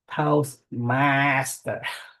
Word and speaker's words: Toastmaster: And I heard some of the pronunciations such as Toastmaster. You say the master a little longer. Toastmaster. And the chị Tuyết Lương, I'm not sure that I heard correctly, but 16, not 60.